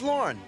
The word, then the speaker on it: Lorne: Name's Lorne. That's easy to remember. Rhymes with corn.